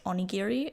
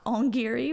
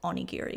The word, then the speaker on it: onigiri: rice ball that's on the freebie bag is pronounced onigiri it's not on Geary which I say in the next clip so